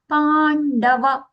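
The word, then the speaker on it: पाण्डव: In Pandava, na. Banavala na is going to come as aghata. Pa. Pandava.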